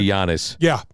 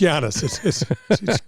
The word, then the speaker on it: Giannis: I just say Giannis. Yeah, it's Giannis.